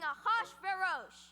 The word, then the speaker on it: Ahasuerus: And now we transition to the palace of King Ahasuerus.